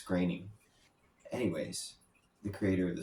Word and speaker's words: Groening: Um, I always thought it's pronounced groaning, but I found out it's graining.